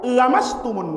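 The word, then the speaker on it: لمستم: Qiraah yang 6 baca panjang pakai lam alif mat tabi'i, lamastumun nisa. Imam Hamzah Az-Zayyad bacanya pendek. Au lamastumun nisa.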